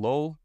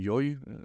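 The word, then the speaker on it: Llull: tradition, the works of Raymond Lull, Raymond Yoy, I was told the pronunciation, is that these are, he clothes them in a different language.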